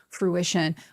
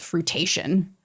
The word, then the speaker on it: fruition: having anything come to fruition, which for the longest time I thought was called fruitation. I mean, listen, it is spelt like fruitation.